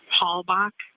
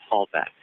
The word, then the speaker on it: Halbach: Halbach. Halbach.